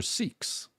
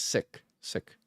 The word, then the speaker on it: Sikh: Um and they were Sikhs. Technically it's they're called the correct pronunciation is sik sik but siks.